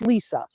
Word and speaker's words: Lesa: name wrong and then they try to say it weird it's Lisa end of story uh but it's spelled